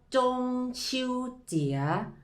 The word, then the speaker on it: 中秋节: ตาม พร้อม กัน อีก รอบ นึง ครับ ว่า จง ชิว เจี๋ย หรือ ว่า เทศกาล ไหว้ พระ จันทร์ ซึ่ง คำ